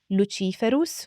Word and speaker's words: Luciferus: I should also add the correct pronunciation in Latin would be lerus for the male and luifer for the female this would be the